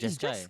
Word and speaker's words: Jeskai: oh, It's Jeskai. Jeskai. Wow. Jeskai Control? Do you see the name wrong or something?